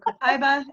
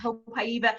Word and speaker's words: copaiba: Okay, copaiba, or how do you pronounce it, Crystal? I kind of flop between the two, copaiba and copaiba. I think I say copaiba more often because I'm lazy. Right, one less syllable.